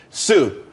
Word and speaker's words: TSU: Sue, TSU, it's pronounced Sue though.